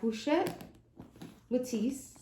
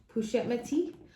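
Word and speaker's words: Pochette Métis: or die it is my pusha matisse push at my teeth i think is how it's actually pronounced and this one here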